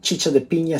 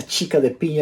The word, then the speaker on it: chicha de piña: so first of all my apologies to all the spanish-speaking world as i pronounced the chicha de pina chica de pina in the last two